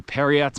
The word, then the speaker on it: Parriott: is coming into View periot Mesa spelled like Marriott but with a p um I have no